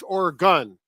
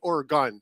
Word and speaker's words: Oregon: It's not Oregon, it's Oregon. Oregon. Yeah, my nephew and his wife just moved out there. You don't say Oregon. They know you're an outsider. You say Oregon.